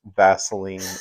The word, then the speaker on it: Vaseline: She literally can't pronounce Vaseline. And I'm like it's not a Z, it's an S.